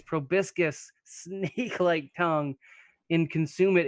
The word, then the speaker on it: proboscis: Proboscis?